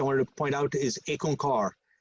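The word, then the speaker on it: Ik Onkar: point out is aconcar the very first word is actually two syllables the first is actually a number so if you look over there you see under the right under the word content i've got ick it actually means the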